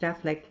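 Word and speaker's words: Auchinleck: 1504 the Barony or manner of our connect pronounced Affleck footner Mr Kroger says that he was informed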